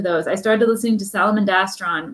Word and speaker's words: Salamandastron: i started listening to salamandastron recently i just kind of picked one and i think pronounce it that's how they pronounce it in the audiobook so i'm going with it oh that's i we always said it sally mandistran what what i was